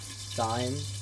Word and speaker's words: thyme: I didn't use that much, but you can add whatever you like thyme or that can pronounce thyme. But it has an H, so looks nice.